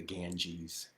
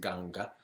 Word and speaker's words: Ganga: ganga the some of us call that the ganges uh but it's pronounced ganga on the banks of the ganga there there is a tradition in benares or